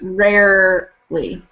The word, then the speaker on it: rarely: readily Rome or okay so rarely um sounded like it had a little too much a little too much stress on the second syllable that sounded like rare Rowley really it should be rarely rarely okay ready and hard